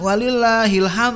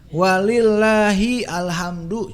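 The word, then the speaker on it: وَلِلَّهِ الْحَمْدُ: ya kalau ditekan Alhamdulillah Nah kalau takbiran walillahilham ya Enggak walillahil hamdu cuman kita membacanya bisa tweet walillahilham heel walillahil hamdu bukan walillahilham Ilham disebut-sebut bukan ya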